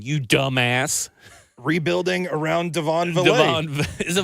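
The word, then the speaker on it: Vele: Yeah, I thought it was Vale, and I called him that throughout the entirety of the draft cycle. And then when I looked it up, pronunciation guide said Valet. Valet. Devon Valet. Like Goulet. Goulet.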